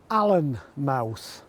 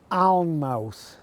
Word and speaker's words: Alnmouth: for this village is Alnmouth. Well, I'm obliged to tell you they are wrong. It's Alnmouth because the village is at the mouth of the river Aln, which you can probably see behind me.